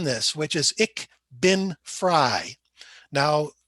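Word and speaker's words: Frei: which is ik bin fry now f r e i and f r e y the family name are both pronounced fry but ich bin fry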